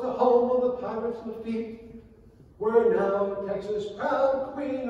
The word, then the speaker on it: Lafitte: are French Canadiens, and it is Lafitte on sit. Oh, I didn't know that. Turns out, actually, they were right, and I was wrong. Lafitte does rhyme with sit, and that's how Lafitte is.